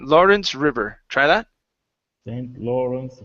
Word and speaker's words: Lawrence: this word here Lawrence give me a good R here instead of St lence Lawrence St Lawrence River try that St